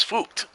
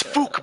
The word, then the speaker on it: Fook: It appears that Fook Me is fooked, at least for the time being. Well, it's fucked if you didn't have fuck you with him. It's Fook, Bernie, Fook. It's a very distinct pronunciation.